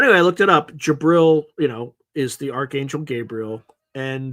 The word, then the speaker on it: Jibril: Okay, phonetically you would pronounce it Jabril.